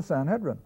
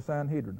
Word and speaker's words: Sanhedrin: do with these believers the Sanhedrin or the Sanhedrin how do you want pronounce it now here's where I